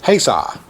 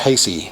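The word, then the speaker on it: Haysi: it a different name but it's haysaw and everybody wants to call it hasty for whatever reason or hazy and it tastes eye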